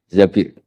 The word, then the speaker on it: Zabir: sama Abdurrahman bin Zabir di hadis ini bukan Mbak Bacanya bukan Zubair tapi Zabir.